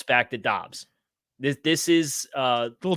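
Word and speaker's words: Doubs: pronunciation of Romeo Dobbs it's Dobbs Kyle not dubs dude no we've gone back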